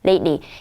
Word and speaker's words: lately: 요거나 아니면 얘랑 똑같은 거 lately라고 하는 거 lately라고 나오는데 T 발음 잘 안 나올 수 있어요. lately.